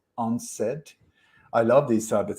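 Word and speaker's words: UNCED: conference that was called u-n-c-e-d when when you pronounce it it's unsaid i love these type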